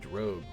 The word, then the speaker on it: drogue: The only way I remember how to pronounce drogue correctly, because I think it's French, is I think of an X-Men character called Rogue, and I just say Rogue with a D, drogue.